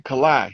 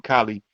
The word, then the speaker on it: Kalai: Kalai. He say his name Kalai. I be pronouncing his name Kali, but it's Kalai Amun Ra.